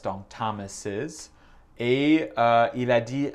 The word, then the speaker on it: Thomas's: Mais si le mot termine avec un S, comme Josh Thomas, ouais, c'est difficile à prononcer. C'est Josh Thomas's. Le is à la fin, c'est comme le mot is, c'est et.